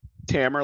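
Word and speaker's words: Tamer: abuzade first things first tamr tammer like hammer if i get the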